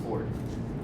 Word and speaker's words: fjord: It's spelled Fjord, or fjord, but pronounced ford.